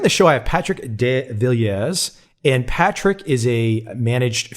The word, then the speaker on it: De Villiers: of your last name if we were french it would be devilier but being from south africa it's pronounced de villiers there you go so